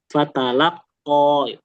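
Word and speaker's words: فتلقى: Nah, ini dia masuk mad ya. Jadi kalau disebutkan mad berarti dia harus dibaca panjang entah itu 2, 4, 5 atau 6. Pasti kalau disebutin mad dia panjang. Fatalaqqo.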